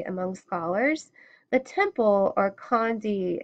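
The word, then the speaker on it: candi: The temple, or Khandi in Yavanese, pronounced Shandi, fell into disguise roughly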